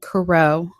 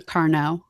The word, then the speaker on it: Carnot: I thought I said Caro, but there is an N in it, so it could be Carnot.